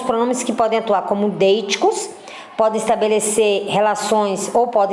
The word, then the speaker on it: deítico: Então, são alguns pronomes que podem atuar como deíticos, podem estabelecer relações, ou podem estabelecer relações anafóricas ou catafóricas. O que é o deico? Né? Então, não é deico, é deítico. Sempre pronuncia essa palavra errada.